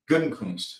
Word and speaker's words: Gutekunst: Did you just laugh at my pronunciation? What? Gutekunst? I think it's right. What is it? Gutekunst.